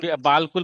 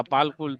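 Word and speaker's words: بالکل: एक मिनट, अभी बालकुल पढ़ेगा, लिखेगा ऐसा होगा, बालकुल बालकुल नहीं होता है, बिल्कुल होता है, से तो अलीफ वहां बिल्कुल के साइलेंट बाद, रहता है।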